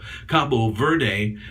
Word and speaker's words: Cabo Verde: word or Verde but the final e on the end is silent in pronunciation in Portuguese hence combo or Cape as they say the cape or the Cabo Cabo Verde or cabo verde is